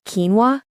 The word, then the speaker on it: quinoa: And quinoa is pronounced quinoa.